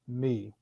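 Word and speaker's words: מי: to be who and that's just a simple pronounce pronounced as me so that Hebrew word for who is me what is going to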